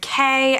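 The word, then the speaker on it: Kaye: The main character, Kay, I think her name is pronounced, has sort of always been friends with fairies, and no one ever believes her.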